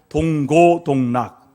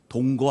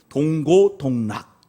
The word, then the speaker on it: 동고동락: 동고동락. 발음을 정확하게 하세요. 동거 아닙니다. 동고입니다. 동고동락.